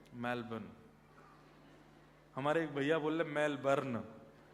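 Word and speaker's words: Melbourne: करेंगे कहां रहते हैं मेलबर्न हमारे एक भैया बोले मेलबर्न जो मैल को जला दे मेलबर्न मैंने कहा नहीं मेलबर्न र जो है वो साइलेंट बोलो तो लेकिन हुआ क्या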